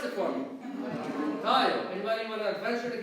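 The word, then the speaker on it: ⲧⲁⲓⲟ: Pronounce it for me. Tayo.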